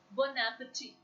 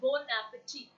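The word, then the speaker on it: bon appétit: If you actually look at the word bon appetit, it's not bon appetit, it's bon appetit. I'm repeating again, the pronunciation is bon appetit.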